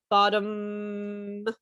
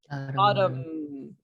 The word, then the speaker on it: bottom: different here is that your lips are fully closed like really hard and the vibration sound is coming from your your neck right your vocal cords so now try it